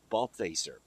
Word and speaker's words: Balthaser: You notice I'm not using your last name again because I don't want to mispronounce it. It's Balthaser.